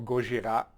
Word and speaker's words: Gojira: Joe Duplantier from Gojira, or Gojira, if you pronounce it in French.